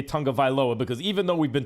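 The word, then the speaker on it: Tagovailoa: anyone in the nfl whose name we can't pronounce yeah that's that's who it was tango vailoa tongobylo everyone calls him too and no one wants to say tonga viloa because even though we've been told 15 times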